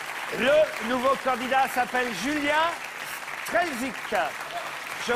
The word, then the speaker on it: Strelzyk: Le nouveau candidat s'appelle Julien Strelzik. Je prononce bien votre nom?